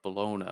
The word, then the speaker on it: Bellona: And the other CV is called Bologna, which is spelled Bellona.